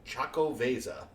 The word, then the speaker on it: Xocoveza: tasty, incredibly tasty beer called Choco Veza. And it's spelled Xocoveza.